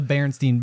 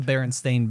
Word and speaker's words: Berenstain: famous mandela effect right where everyone thinks it's s-t-e-i-n but actually it's s-t-a-i-n and no one everyone's like no that's not how it's spelled and it's like well look and you're like oh my gosh everybody thinks it's the berenstein bears right that's the berenstain bears right i think and